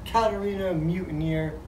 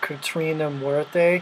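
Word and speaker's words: Catrina La Muerte: Katarina Mutineer. I'm sorry, I'm ignorant. It is pronounced Katrina Muerte.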